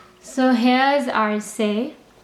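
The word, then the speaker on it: c'est: this is pronounced as a and this is pronounced as s so eventually this whole thing becomes say and say means this is or it is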